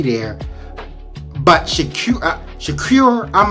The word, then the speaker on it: Shakur: would have been a k there but Shak shakure I'm like how did he not know that